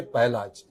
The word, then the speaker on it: Pahlaj: So we say Pahlaj. Prahalad is pronounced as Pahlaj. My grandfather's name was Pahlaj Rai.